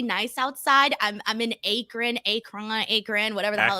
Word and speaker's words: Akron: it looks pretty nice outside I'm in Akron Acron Akron whatever the hell it's called Akron thank you I've been practicing that goddamn city